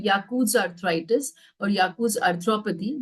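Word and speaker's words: Jaccoud: But after some years they can get these but this is called yakuz arthritis or yakuz arthropathy. The J is silent here.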